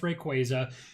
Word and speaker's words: Rayquaza: because we already know that there's a rumored Rayquaza. Yes, Rayquaza. I know it's pronounced Rayquaza, but there's going to be a rumored mega Rayquaza set.